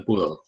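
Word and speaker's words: pole: Ditulisnya pol, dibacanya pool. Jadi bukan dibaca pol, tapi dibaca pool.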